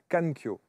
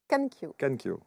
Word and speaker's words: Kankyo: Danser au milieu du chaos, c'est le dernier ouvrage de Kankyo, Kankyo. Kankyo, c'est comme ça qu'il faut le prononcer.